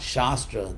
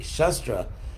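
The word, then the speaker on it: शस्त्र: weapons there's chess truck actually not Shastra Scripture but with a short a Shastra because chefs means to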